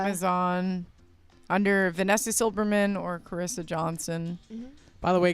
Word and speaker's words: Carissa: No, it's Carissa. not J- Clarissa.